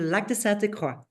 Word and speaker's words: Lac de Sainte-Croix: It's near a beautiful lake, the Lac de Sainte-Croix.